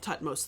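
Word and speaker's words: Thutmose: Tutmos is a ro greek or helanized version of jihudi mess.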